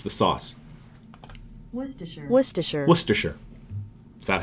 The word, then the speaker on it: Worcestershire: not going to say it it's the sauce Worcestershire Worcestershire Worcestershire is that how you would have said it would you have said sir sure Worcestershire do you want to be British Worcestershire so fancy you could be the most proper